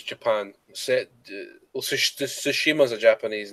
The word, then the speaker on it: Tsushima: All right, next game is, and forgive me if I pronounce this wrong, Uh, Ghost of Shimira. I think it's Tsushima.